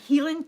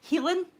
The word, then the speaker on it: Heilan: Heilan. It's essentially the word healing without the A or the G. It's a Heilan cow.